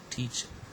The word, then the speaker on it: teacher: at the first example teacher so it has got two syllables t and ah okay schwa is never stressed so it means the last syllable is not stress the first syllable contains a long wall e and that's why it must be stressed this is an example